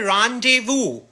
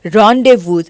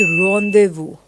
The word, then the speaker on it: rendezvous: इस वर्ड को प्रोनाउंस करते हैं रॉन्डेवू, और तुम क्या बोल रहे हो? It's not rendezvous, it's rendezvous.